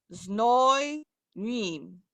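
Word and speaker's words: знойным: Is the Z pronounced? Yes, zno. No. Znoj nim.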